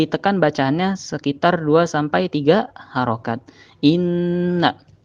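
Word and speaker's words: إنَّ: Nah, di situ ada inna, nun mati, nun gunnah. Apabila ada huruf nun di atasnya terdapat tasydid, maka agak ditekan bacaannya sekitar 2-3 harokat. Inna, bukan ina, tapi inna agak ditahan.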